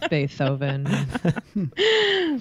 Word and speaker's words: Beethoven: both correct it is Beethoven uh extra points for gritty for pronouncing it the correct German way of bethoven so uh Beethoven was